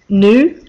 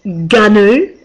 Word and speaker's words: GNU: G operating system gnu I always thought it was new like you say the animal but no apparently it's ghu um and what I